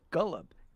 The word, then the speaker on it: julep: The term julep has Persian roots, and the original pronunciation was gullup.